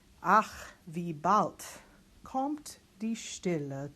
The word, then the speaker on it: Stille: Now, S-T at the beginning of the word, that's one to notice. That's our esh sound. Stille. It's I because of the two L's, and then a schwa ending.